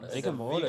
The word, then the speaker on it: Vigor Mortis: Vigor Mortis. Vigor Mortis. It's like, like rigor mortis, like your stiff body.